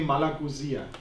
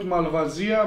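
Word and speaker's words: Malagousia: days Chardon and malag you say malag not malavia malag Malia okay because I also always uh pronounce it wrongly name malagia Mal malagia okay malag is the right okay wow it's also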